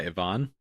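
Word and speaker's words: Yvonne: It's spelled Y V O N E but that's typically pronounced Ivon. Ivon.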